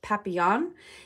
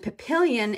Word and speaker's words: papillon: supposed to be the pap is supposed to say papillon it's like butterfly in french and papillion in uh english is a dog i guess it's a papillion dog i don't really know if that's such a thing but um that's papillon is french for butterfly and that's where this comes from so there is no i at the end it's just o n just fyi little um